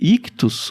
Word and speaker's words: ICHTHUS: Lembrando que Ictus se escreve ICHTHUS.